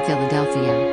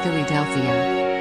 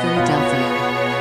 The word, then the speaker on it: Philadelphia: at his office in Philadelphia. It didn't help that he pronounced it Phillydelphia.